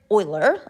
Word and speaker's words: Euler: more it's often called Euler's number after Leonard Euler pronounced Euler after use euler but boylar okay so um I